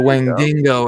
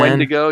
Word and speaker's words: Wendigo: Wingdingo or something, The man. Wendigo.